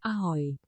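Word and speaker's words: ahoj: Ahoy.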